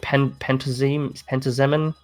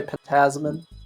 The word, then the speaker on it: Pentazemin: Is it Pentazemin? Whatever they are. Pentazemin? Pentazemin, that one. People say it different ways, but I'd say Pentazemin.